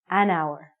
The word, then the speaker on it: hour: sounds like a vowel because the h is silent we have to say an hour okay you got it